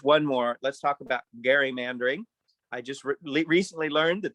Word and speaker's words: gerrymandering: that uh just one more let's talk about gary mandering i just recently learned that that's how it's pronounced even chief justice roberts in some personal